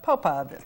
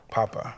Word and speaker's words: POPA: is the founder of Popa people of purpose and Associates I said it wrong I can tell Papa Papa Papa the be M I